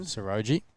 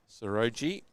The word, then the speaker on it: Saroji: Saroji. Saroji.